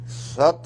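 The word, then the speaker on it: सत्: और फिर कहते हैं एक मेरा नाम सत है। सत भी स पूरा है, त व्यंजन है। हल है, वो आधा है।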